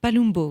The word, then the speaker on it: Palumbo: Palumbo, oui. Palumbo. Ça s'écrit avec un U, mais ça se prononce...